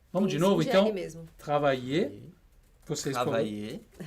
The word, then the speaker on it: travailler: E a gente não pronuncia o R, né, Garru, no fim? Não. E é como se a gente fizesse dois Is seguidos. Esses dois L's... A dica é essa. Você vai pronunciar I e o I depois. Travailler. Travailler. Dá uma alongadinha.